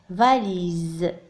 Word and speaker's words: valise: valise. هنا لاحظتم بأننا نطقنا الحرف S ز.